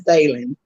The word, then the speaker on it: Daylen: associated with the book it's um and it's pronounced one time for david his name is dalen dan and what it is we were introduced